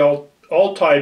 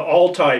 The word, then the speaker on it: Altai: Inca, and Iroquois are closely related to the Altai people of the region that borders China and Mongolia. So the Aztec, the Inca, the Iroquois are closely related to the people in northern China and Mongolia. The Altai people, it's spelled A-L-T-A-I.